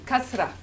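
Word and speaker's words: كسرة: With a s sound, right? Like ismi. Like ismi, not ismi. Ismi. Kasra.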